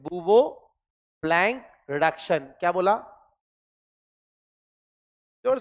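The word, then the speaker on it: Bouveault–Blanc: सी ब blank reduction याद रहेगा क्या ब ब्लैंक रिडक्शन ब वोल्ट नहीं बोलते प्रोनंसिएशन में बव ही बोलते हैं बवो ब्लैंक रिडक्शन क्या बोला जोर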